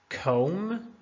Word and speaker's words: comb: Comb, comb. Talk, talk. Wednesday, Wednesday. Right, right. So all of the letters in red are silent.